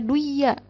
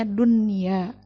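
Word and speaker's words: الدنيا: Nah, ini nggak boleh dibaca duya, tapi harus dibacanya dunya.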